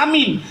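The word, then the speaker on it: آمين: Cara sebut amin. Amin. A panjang min.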